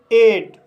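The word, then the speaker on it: eight: इसका दूसरा रूल है, जब किसी वर्ड में EIGH आए तब GH साइलेंट रहता है और EI का उच्चारण A होता है। जैसे एट, एट शब्द में EIGH आया है, इसलिए GH साइलेंट रहेगा और EI का उच्चारण A होगा, इसलिए इसे एट पढ़ा जाता है।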